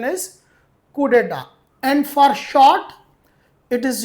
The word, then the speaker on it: coup d'état: The next word is coup deta. It is written as it is coup and dat but its right pronunciation is coup deta and for short it is used coup very